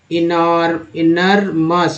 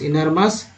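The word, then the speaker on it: inermous: edited, inedited, inaptest, inequity, इनरमस, ओ यूएस को बोलते हैं अस, एम लगा मस, इनरमस, इनरेंट, इनर टेस्ट, इनरटीए,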